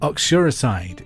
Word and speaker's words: uxoricide: Uxoricide is the killing of who?